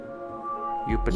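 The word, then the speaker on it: Iuppiter: So I guess the I is pronounced like a J in Latin, huh? Jupiter.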